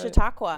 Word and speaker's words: Chautauqua: Now, the clip that we played right before here was from a show, Chautauqua. Yes. Right? Am I pronouncing that right? Chautauqua.